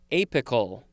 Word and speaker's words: apical: do one more for this episode it is apical api cal this is an adjective from 1806